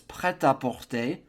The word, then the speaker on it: prêt-à-porter: 51, we're in the 50s now in English, and I think Americans or English speakers might say prêt-à-porter. I really don't know, but in French it's prêt-à-porter, ready to wear, literally.